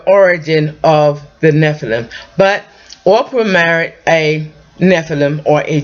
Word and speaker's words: Orpah: the son of Ora Ora I always have a problem pronouncing her name because I want to say Oprah but her name was Ora anyway long story short Goliath